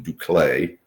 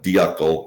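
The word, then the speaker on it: d'Uccle: Um, for example, the Belgian, it's spelled D U C E. Okay, I spell it because if you ask 10 people, they'll pronounce it differently. What I call the hardcore people, they call it Belgian ducle. Others call it duckle, others call it duckle.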